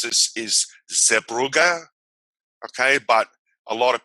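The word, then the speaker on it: Zeebrugge: on okay and the the proper way to pronounce this is zebruga okay but a lot of people pronounce it as subrage so i'll just pronounce it as a bruges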